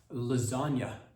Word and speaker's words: lasagne: It's L A S A G N E and pronounced lasagna.